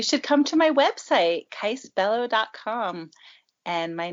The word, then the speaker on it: Kyce Bello: about you you should come to my website case bellow comm and my name is spelled k YC e b e ll o